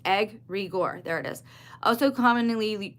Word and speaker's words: egregore: They just said pronounced egg regor.